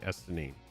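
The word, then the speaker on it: Estinien: It's not Einstein either. It's Estinine. Estinine Varlinu.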